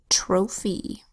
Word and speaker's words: trophy: We have a T that says T, an R that says and an O that makes a long O sound, O. That's the first syllable. Tro, an open syllable. Next syllable, fee. Is a PH that says F, and a Y that makes a long E sound, E, also an open syllable. Trophy.